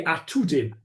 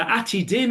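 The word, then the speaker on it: עתידים: But the atidim is important because it's atidim, but not atudim, which is the way it's written.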